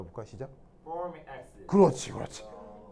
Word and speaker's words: formic acid: 일본 사람들은 이게 폴믹 이게 발음이 잘 안 되거든요. 그래서 이제 포름산 이렇게 발음했던 걸 우리가 이제 따라서 포름 이렇게 했던 거죠.